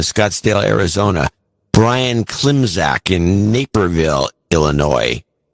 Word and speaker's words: Naperville: Brian Klimzak in Naperville, Illinois. I used to always pronounce that Napierville. But I think it is spelled Naperville.